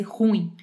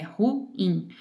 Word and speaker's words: ruim: Para deixar bem marcado que ruim é um hiato, tá? Não é um ditongo para fazer ruim, é ruim.